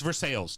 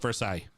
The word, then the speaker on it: Versailles: to someone oh yeah it's for sales do not call it versailles do not it's for sale the french one first off is versailles